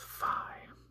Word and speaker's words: phi: So there's a lot of different pronunciations for this, but I've generally kind of gone with phi. Although, if I'm pronouncing it in an ancient Greek sentence, then it's kind of like an aspirated P in the word pot.